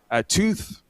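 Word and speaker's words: Twoth: Tooth that is spelled out t w o t h and the th there stands for the two th's and I hope that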